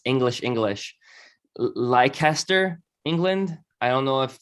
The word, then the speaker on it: Leicester: Yes, it's pronounced Leicester.